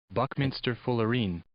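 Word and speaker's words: buckminsterfullerene: Buckminster Fullerene. Buckminster Fullerene. That's how they pronounce it on Merriam-Webster.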